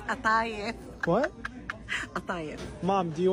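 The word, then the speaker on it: قطايف: It's not kataif, honey. It's atayif.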